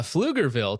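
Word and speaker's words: Pflugerville: able to pronounce Flugerville. Okay, there's a P on there for some reason. Uh Flugerville, Texas, the Sharia beach head I've been exposing for years.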